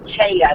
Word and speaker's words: Taja: And it's pronounced Chaya. The J is silent for a Y.